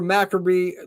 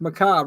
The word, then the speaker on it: macabre: Although stories of such caliber, Macabre, oh my God, I just butchered that word, live. Anything can happen live. Macabre, right? There it goes. I said it right, guys.